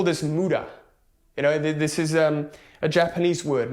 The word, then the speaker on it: muda: It's waste, muda. You want to eliminate all muda from your life. It's spelled M-U-D-A.